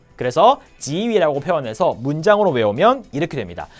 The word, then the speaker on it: 给予: 물건을 실제로 주는 게 아닐 때 도움을 주거나 원조를 하거나 응원을 하거나 이런 걸 격려를 해주거나 할 때는 이런 걸 줄 때는 보통 다 지라고 발음을 하는 게 맞습니다. 그래서 역시 마찬가지로 여러분 꼭 명심하세요. 이거는 오히려 게이위라고 틀린 발음으로 하는 사람들이 많지 않을 거예요.